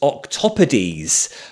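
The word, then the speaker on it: octopodes: Uh oh no, four syllables. Octopades with the stress on top.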